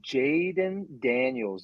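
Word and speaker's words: Jayden Daniels: This is all about Jaden Daniels. Am I pronouncing that right?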